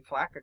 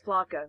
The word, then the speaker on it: Flocka: the flacka I hope I hope I'm pronouncing Flaka correct it's spelled f a l k Ka a it's Flocka like Waka fla flame Flocka